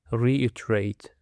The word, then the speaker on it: reiterate: That said, dear listeners, now let's have a following word, which is reiterate. Reiterate. The stress on the second syllable.